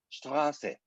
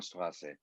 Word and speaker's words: Straße: So if you look at, for example, the street name in Germany, you see Straße. This is this SZ, which is pronounced like a hard S in English language.